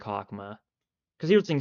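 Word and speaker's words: Chokhmah: stream itself chman well chakma is pronounced like hakma cuz here's the thing CH is just pronounced H if you want like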